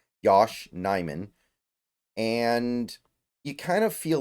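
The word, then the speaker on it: Yosh Nijman: start uh looking at Yos uh Yos nyman excuse me that's how you pronounce it n Yosh nyman and you kind of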